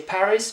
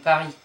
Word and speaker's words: Paris: Think about it, like you don't say Paris but you're saying Paris.